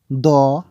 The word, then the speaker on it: দৃ: লিখে নিই যেকোনো যেমন আমি লিখছি ক ম দ প গ ত ব ন এবং দন্তস বা